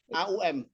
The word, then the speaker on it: AUM: Bacanya AU ya. AUM.